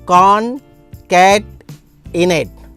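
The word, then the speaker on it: concatenate: कॉनकैटनेट। Okay, तो pronunciation होगा कॉनकैटनेट।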